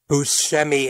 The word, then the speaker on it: Buscemi: pronounce his name again he gets introduced as Buscemi but when the topic gets brought up Buscemi admits that while that pronunciation is correct so is Buscemi so both are changeable